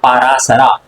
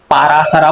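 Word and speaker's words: पराशर: हाँ, पारासरा। अब देखो इसमें इंग्लिश में पारासरा बोलेंगे हम, और हिंदी में क्या बोलेंगे इसको, पारासर, है ना। हिंदी में पारासर बोलेंगे और इंग्लिश में क्या बोलेंगे, पारासर।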